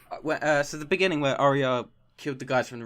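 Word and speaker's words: Arya: how do you pronounce arias name do you empower aria is their emphasis from the are would you just skip the are and go oh yeah you pronounce the art but it's just aria sorry I suck a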